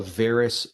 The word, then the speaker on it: varus: end that's called a varus condition and the best way to remember this is that varus rhymes with air and so air can